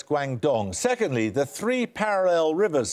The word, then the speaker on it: Guangdong: I'm not making Can I nominate you for these pronunciations? Guangzhou, yeah. Nominate Wang. Guangzhou? No, it's Guangdong.